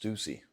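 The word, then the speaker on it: Stüssy: I believe it's actually pronounced Stussy.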